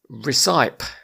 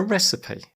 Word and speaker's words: recipe: with quite a nice recipe not that pronunciation though is it gav is it a prescription no is it a receipt nope well in that case it must be a recipe that is right I feel like you've